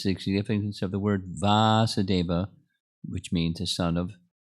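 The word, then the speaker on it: Vāsudeva: That is the significance of the word Vasudeva, which means the son of Vasudeva. The son takes on the long A or long syllable vowel.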